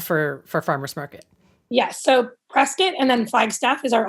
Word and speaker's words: Prescott: Yeah, so this is in Prescott, or Prescott, as the locals say.